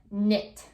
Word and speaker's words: knit: Another one, a lot of people like to do this as a hobby, knit or knitting. Again, you don't say the K, you just pronounce the N, knit.